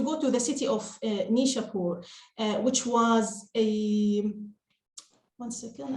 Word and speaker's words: Nishapur: in the city of nishapur and Arabic we pronounce it as nisapur uh which is one